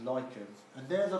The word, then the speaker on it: lichens: up is light goes spotlight litchi but it's pronounced lichens and they're they're like mossy growth you see